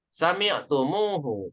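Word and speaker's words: سمعتموه: Sami'tumhu. Kalian mendengarkannya, gitu ya. Kalian mendengarkannya. Nah, aneh Bu ya. Pengucapannya aneh. Sami'tumhu, susah, ya. Untuk menyiasati itu biar nggak kesusahan, maka mimnya harus ditambahkan wow. Sami'tumuhu.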